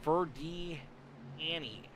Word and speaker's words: Ferdiani: Fur like fur coat, D like the letter D, Ann like the name Ann, and E like E and C. Fur de, or D, Fur D Annie, Fur D Annie, Fur D Annie, Fur D Annie.